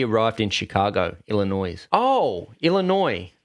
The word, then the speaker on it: Illinois: in Chicago Illinois oh Illinois the S is silent yes silly cuns y